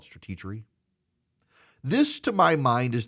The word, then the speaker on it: Stratechery: I think most people pronounce it Stratechery, but he wants to call it Stratechery.